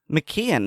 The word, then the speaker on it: McKeon: McKeon is how I would pronounce that.